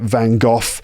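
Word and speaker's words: Van Gogh: vanoff I pronounce it vanov there's lots of different pronunciations of his name but that's how he's generally pronounced in the UK in British English in Van goff's paintings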